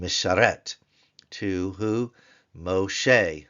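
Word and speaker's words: משה: M sharet to who Moshe that's the M with the holum Shin with the segull with the he it is a hey the barn door is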